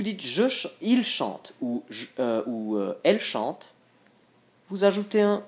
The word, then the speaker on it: chante: Si vous dites il chante ou elle chante, vous ajoutez un E. N'ayez pas peur, pour la prononciation, il n'y a pas de différence. Tout se prononce chante.